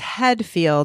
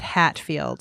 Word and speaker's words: Headfield: Now, oh, no, it's Headfield, not Hatfield.